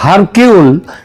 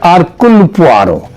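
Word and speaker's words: Hercule Poirot: Agatha Christie এবং তার গোয়েন্দা আরকুল পোয়ারো, এটা যদিও ওই উচ্চারণে এটা হয় হারকিউল, কিন্তু অ্যাকচুয়ালি উচ্চারণটা হচ্ছে আরকুল পোয়ারো।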